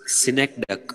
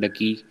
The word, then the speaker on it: synecdoche: Next is synecdoche. How do you pronounce? Synecdoche. Synecdoche. Some people call it synecdoche, but it is not ducky.